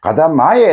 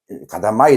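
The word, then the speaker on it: 片前: 우리 는 "katamae" 를 " katamai" 로 , "ryomae" 를 "ryomai" 로 잘못 발음 했는데 , "katamae" 는 단추가 한 줄로 배열 된 앞면 을 가리킵니다 .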